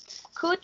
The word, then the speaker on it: could: Si la pronunciación es could, ¿qué no pronuncio en could? ¿Qué no suena? ¿Qué? ¿Cuáles son las dos letras que no suenan ahí en could? La U y la L.